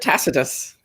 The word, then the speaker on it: Tacitus: quite passionately she was yeah that's it Tacitus yes I mean that's the modern english rendering obviously in the latin fe pocketers but but but in in the sort of british tradition it's Tacitus gotcha okay there was